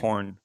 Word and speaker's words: Kirkhorn: I can't remember how to pronounce his last name. Kirkhorn, The new Kirkhorn, I CFO think.